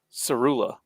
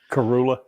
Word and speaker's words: Karula: her a bit of Sarula, or however you pronounce her name. Karula, yeah. Karula, yeah, the vampire.